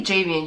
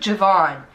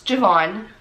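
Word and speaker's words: J'Vaughn: No, you didn't say Javian. You said Javon. So okay, so it's Javon.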